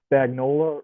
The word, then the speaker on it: Spagnuolo: And one thing you got to know about uh, the defensive coordinator, it's Steve Spagnuolo, right?